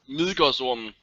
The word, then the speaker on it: Midgårdsormen: How do you say it? Midgårdsormen. Oh, that's the Danish name.